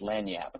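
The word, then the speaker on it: lagniappe: in the chat window which is pronounced LAN Yap in Louisiana which means a little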